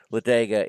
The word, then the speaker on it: Ladega: I'm telling you because it's pronounced exactly like Talladega. You know where the NASCAR track is. It's just the last part of that word.